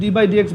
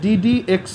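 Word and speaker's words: d/dx: তুমি যদি ডি বাই ডি এক্স বলো তুমি কমপ্লিটলি রং, বা কাউকে যদি কখনো বলতে শোনো বলতেছে ডি বাই ডি এক্স, এটা পুরোপুরি ভুল। এটা হচ্ছে ডিডি এক্স অফ, মানে উচ্চারণটা এরকম, ডিডি এক্স অফ এক্স square. ডি বাই ডি এক্স অফ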